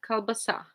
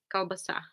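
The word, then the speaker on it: колбаса: More Polish people, they would say kielbasa, but in Russian, kalbasa. There's stress on the last A, kalbasa. In Polish, I think it's kielbasa.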